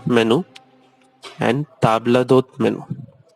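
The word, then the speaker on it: table d'hôte: आला कार्ट उसका प्रोनाउंसिएशन है, प्लीज नोट, आला cart, and the second one इज ताबला दोत। वो एक ही साथ बोलना है आपको, ताबला दोत, आपको अलग अलग नहीं बोलना है।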